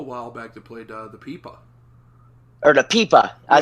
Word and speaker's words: pipa: from china she's an amazing player and she pronounced it pipa so i was like okay now i know